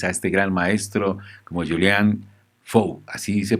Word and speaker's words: Julien Faure: al artista francés a este gran maestro como julian show así se pronuncia hacia el del rector flojo o bien